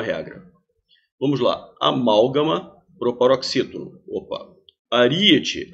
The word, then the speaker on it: aríete: vamos lá amálgama proparoxítona aríete aríete separa assim a e ET também é proparoxítona a sílaba tônica é anti-penúltima Zé Filho proparoxítona não